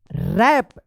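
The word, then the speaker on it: wrap: बताइए इसको क्या पढ़ेंगे रैप डब्ल्यू आर ए पी रैप व रैप मत पढ़िएगा क्योंकि आर से पहले डब्ल्यू है तो डब्ल्यू साइलेंट रहेगा रैप द गिफ्ट केयरफुली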